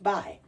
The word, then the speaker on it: buy: Now, B-U-Y, we add a U here, and it's still pronounced by.